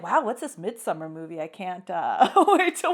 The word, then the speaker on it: Midsommar: So I think what I was saying was Midsommar when I said it once. Okay. And you're like, no, Felicia, which is no, it's not how you say it. So it's like Midsommar.